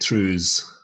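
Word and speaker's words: trews: were wearing throughs um and you also get trues um t-r-e-w-s and scottish gaelic as particularly tartan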